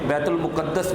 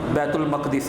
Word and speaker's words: بیت المقدس: المقدس میں موجود تھے۔ بیت المقدس بھی پڑھا جا سکتا ہے لیکن زیادہ درست اس کا تلفظ بیت المقدس ہے۔ وہاں پہ لے جایا